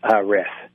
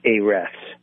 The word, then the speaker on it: Ahrefs: And then here's one I have a hard time pronouncing, but it's Ahrefs, A-H-R-E-F-S.